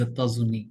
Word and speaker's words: États-Unis: That is a critical word to pronounce. Okay. So how do you say that? Les États-Unis, something like Yes, Zeta Zuni, yes.